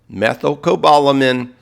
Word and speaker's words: methylcobalamin: So, when you buy B12, get methyl cobbalamin. It rhymes with ethyl. Methylcobalamin.